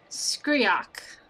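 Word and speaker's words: Skreak: So I am doing average, and it's Skriok.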